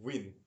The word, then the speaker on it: Nguyen: Nguyen is pronounced Win.